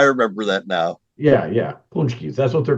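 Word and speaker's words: pączki: a c z but they're pronounced punchies and you talk about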